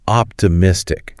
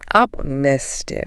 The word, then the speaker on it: optimistic: optimistic try say it really focusing on that middle syllable optimistic optimistic even after failing he